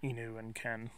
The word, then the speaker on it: Nihon ken: call them Shikoku but I tend to pronounce the names as they're pronounced in their native country or as best as I can so you'll notice me saying he knew and Ken so the word or